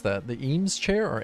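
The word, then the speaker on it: Eames: How do you pronounce that? The EMS chair or Ames chair.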